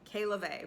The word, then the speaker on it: Kay LaVey: That is how you say her name, Kay LaVey.